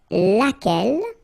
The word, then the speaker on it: laquelle: singular, we saw it laquelle, okay, so basically same rule, Q-U, U is not pronounced here, and then you